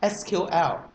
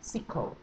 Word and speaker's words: SQL: not an id guy you will pronounce it as sql however if you would like to show you're a professional id guy then what you do you should pronounce it as what sequel remember if you would